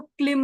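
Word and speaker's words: क्लीं: माता तो यहां पर यह ल जो है ये ज्यादातर अकेला लम ऐसा बीज मतलब गायन इसका उच्चारण नहीं किया जाता है क से जुड़ा जाता है तो क से जब जोड़ते तो क्लिम हो जाता है तो क्लिम करके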